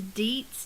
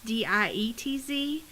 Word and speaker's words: Dietz: Well, my dad's name is Dietz, Dietz, and no one can pronounce that. They look at it and it looks like diet with the Z on the end.